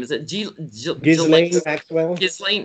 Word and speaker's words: Ghislaine: Is it Ghislaine Maxwell? Ghislaine. I always say I put the S in there, and some people say it's silent, and I can't say it without the S. So Ghislaine, I'll say it the wrong way.